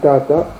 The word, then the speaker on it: tata: En latin, le mot père se prononçait tata.